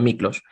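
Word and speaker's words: Miklós: Mi padre es húngaro, mi madre es peruana, y Miklos, ese es Miklos, se lee Miklos, pero se pronuncia Miklos.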